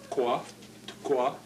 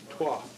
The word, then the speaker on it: twa: In the little primer, the word for glass, he writes in this way, TGWA, tqua, which is the Niskak way, whereas we pronounce it simply as twa.